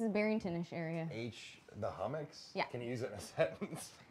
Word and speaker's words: Hummocks: The Hummocks.